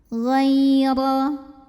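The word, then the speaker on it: غَيْرَ: Ghaira. Huruf ra dibunyikan secara tafkhim karena barisnya di atas. Maka cara bacanya tebal, pangkal lidah kita angkat.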